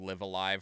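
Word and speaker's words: Live A Live: the longest time although liv is one of those words that could be pronounced like three different ways and they all mean something different but apparently it is actually properly pronounced live alive and this was a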